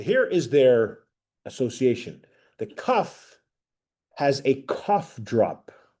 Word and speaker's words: kaf: The next letter we have, this is called a kaf, like the sound of a K.